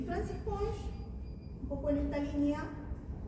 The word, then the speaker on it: Ponge: Y me gustaría empezar hablándoles sobre Francis Pongch. Se escribe Francis Ponge, por si alguien lo quiere escuchar.